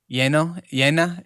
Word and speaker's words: llena: Well, both of those sound like a Y. Llena, and amarillo. No, but it's a double L. The way you spell it. Yeah. So they're both double L's, and they both do the Y sound, right?